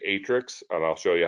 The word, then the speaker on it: Aatrix: new term for you atrix as you see it's spelled aatrix but notice atrix if i scroll down